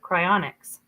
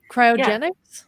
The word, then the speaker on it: cryogenics: Is that am I saying it right? Am I saying it right? Cryogenics. Cryogenics. But yeah. Yes. Thank you. I wrote it down very up. It literally says it's cryionic. Anyways, he Yeah, he wants to be frozen.